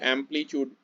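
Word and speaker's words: amplitude: एम्पलीट्यूड इसे pronounce करते हैं, ध्यान रखना।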